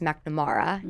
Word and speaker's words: McNamara: And then on this trip, we were on the Sea of Marmara, and my last name is McNamara, but it's pronounced McNamara in Ireland, means sea in Gaelic.